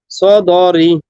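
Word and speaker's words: الصدور: না বলি সদরি। আবার, সদরি। না সদরি না, ধীরে সদর। ধীরে সুস্থে বলেন, তাড়াহুড়া করেন না, পারবেন। বিজাতিস সদর। হ্যাঁ, আবার আবার দেখেন তো, বানান মনে মনে বানান করেন প্রয়োজনে, একটু শুধু একটু। সদর। বিজাতিস সদর। হ্যাঁ, সুদূর এক টান হবে, সু, তারপরে সুদূর। হ্যাঁ সুদূর।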